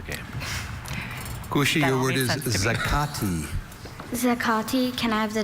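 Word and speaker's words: zacate: There is zakati and zakati.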